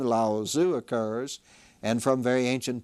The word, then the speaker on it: Lao Tzu: Again, the T, I understand, has a D sound in the pronunciation, so Daoism was founded by a legendary figure whose name was Lao Tzu.